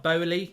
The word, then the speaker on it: Boehly: I think it's Todd Boehly, isn't it? That's how you pronounce it, the new owner.